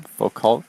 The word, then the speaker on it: Foucault: But one thing I've seen that I haven't heard talked about really is Foucault's pendulum. Foucault, am I pronouncing it correctly?